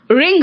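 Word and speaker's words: wring: silent है इट्स राइट W silent है देखो रथ रथ मतलब गुस्सा रिंग रिंग मतलब निचोड़ ऐसे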